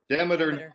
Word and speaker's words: Demeter: Imagine Persephone coming up from hell and I can't pronounce that word. How do you say it? Demeter.